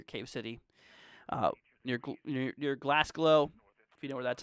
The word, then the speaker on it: Glasgow: with my family here so glass glow or Glasgow yeah that's how you see that but right here towards